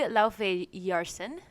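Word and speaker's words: Laufeyson: Loki Laufey-Yarsen, I believe is how his last name is pronounced. Laufey is his mom, and that's his mom's name, and then Yarsen, I believe, is son of.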